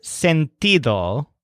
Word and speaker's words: sentido: said that makes sense the word scented all with a stress on tea but it starts with